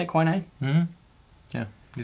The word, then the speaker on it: quinine: Is that how you say it, quinine?